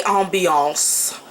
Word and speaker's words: ambiance: Great for emergency lighting and everyday ambiance. Yes, that's how you say it in French. Ambiance.